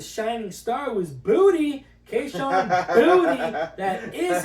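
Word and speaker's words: Boutte: Kayshawn Booty. That is how you pronounce the name, believe it or not.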